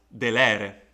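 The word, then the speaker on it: delere: the penalty level is long so it means that the accent must fall there therefore you have to read it as de lere then we have the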